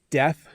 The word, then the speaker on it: death: you can't hear so let me say both words again death a death in the family and death so notice when i say death you can see my tongue a little